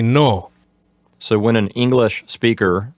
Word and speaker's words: no: In Spanish, just eliminate that U sound at the end. Just say no, as opposed to no. So just say no.